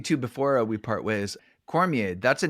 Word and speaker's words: Cormier: I assumed it was Cormier, but Canadian. Yeah. Sometimes you use the French pronunciation and people get very upset. Yeah. Yes. Yeah. I don't get upset. It's always Cormier down here.